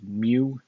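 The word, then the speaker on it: μ: but it's the greek version of m we pronounce it as mu it's the if we had a graph it'd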